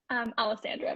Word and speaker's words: Alessandra: Alessandra, but yes. Alessandra. I've been living in Spain for a couple of years, and so I'm putting a little bit of a twist on that. Alessandra, who's the co-founder of Algi.